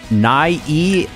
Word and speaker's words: Nie: Shoutouts to Nye, I believe that's how you pronounce it. It's spelled N-I-E.